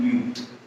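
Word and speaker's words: μ: ठीक है, इसको हम क्या प्रोनाउंस करते हैं, म्यू।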